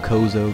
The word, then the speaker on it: Chozo: People call them Kozo, Chozo, and again, with like Nintendo pronunciations, a lot of people call them differently.